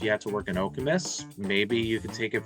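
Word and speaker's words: Okemos: o m o s people like to say okos but it it is okus that's how you state that one as well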